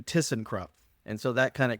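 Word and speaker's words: Thyssenkrupp: I couldn't even pronounce I was calling that Tyson and Tucson and then remembered that it should be like kissing so then I said oh okay that's easy just do tissen crup and so that kind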